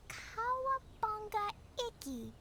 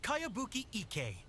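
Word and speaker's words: Kayabuki Ikkei: new one i've never heard of it by cowabunga icky your mia this is a really strange name who's this cowabunga it's pronounced kayabuki ek that would be me outlander brigade is a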